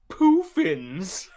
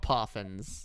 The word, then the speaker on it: Poffin: and gen four had poofins they're called they're called poffins okay fine gen 4